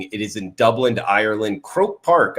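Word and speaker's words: Croke Park: Croak Park, I believe is how you say the stadium name.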